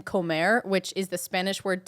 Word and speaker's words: Comer: one thing, that you say his last name Comer, which is the Spanish word to eat. You always say Comer. I do, actually. You always I call realize that it is John Mark Comer. It's Comer.